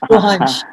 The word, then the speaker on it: रोहांश: Okay, Rohan plus अंश, so रोहांश.